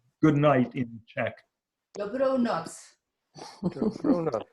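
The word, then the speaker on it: dobrou noc: Dobronoc. Dobrona. Dobronoc.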